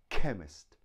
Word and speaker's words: chemist: have buck now that sound CH is also found in the word chemist chemist chemist so it's a hard k but it's spelt see H next up we